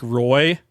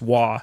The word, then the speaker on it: Roy: was little was to refer to Patrick Waugh as Patrick Roy, because his last name is spelled R-O-Y. It's Waugh, just to be clear.